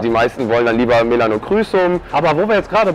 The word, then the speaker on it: Melanochrysum: Melanochrysum, ich habe ja. Schon mal in einem Video Melanochrysum gesagt und danach hin habe ich Hate-Kommentare gekriegt. Ja, weil das ist die englische Aussprache, ja.